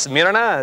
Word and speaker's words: Smyrna: Did I say it right? It's Smyrna, it's Smyrna. Smyrna.